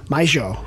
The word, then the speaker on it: mayo: And I was told not It's to pronounce it mayo. I was supposed to pronounce it Argentinian mayo. Like that.